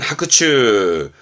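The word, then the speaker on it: 伯仲: 발음은 하크츠 합니다.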